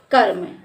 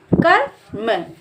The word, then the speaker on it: कर्म: इसका उच्चारण हम करेंगे का के बाद हम आधे र का उच्चारण करेंगे तो इसको पढ़ेंगे कर्म